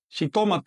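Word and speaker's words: xitomatl: En otras palabras, cuando escriba un término de origen nawat, pero incorporado al español, por ejemplo, en nawat se dice shitomat, en español se dice jitomate.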